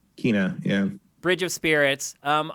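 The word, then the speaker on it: Kena: kenna actually we now know it's called you pronounce it kina kina yeah bridge of spirits um i learned through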